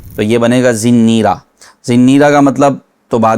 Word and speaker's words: زنیرہ: زنیرہ، یہ اس کا صحیح تلفظ ہے۔ اس کو زنیرہ سے زنیرہ کر دیا۔ را کے نیچے ہے زیر، نون میں تشدید ہے، زیر کے ساتھ پھر آگے یا، پھر را اور گول ہا، تو یہ بنے گا